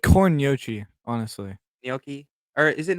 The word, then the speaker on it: gnocchi: It's pronounced differently, different places. 'Cause Gnocchi. Japan does it differently. Definitely not Ginocchi.